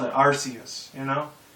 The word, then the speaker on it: Arceus: i always called it arceus you know because it's a c not a k you know maybe in